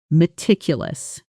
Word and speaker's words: meticulous: Meticulous. Good. Notice the stress falls on the second syllable.